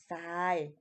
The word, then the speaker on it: ทราย: กัน อยู่ แล้ว ว่า ทร นะ คะ จะ ออก เสียง เหมือน ซอโซ่ จะ ออก เสียง เป็น ซอโซ่ ใน เช่น อ่าน ว่า บ่ ซย ทราย นะ คะ แต่ เวลา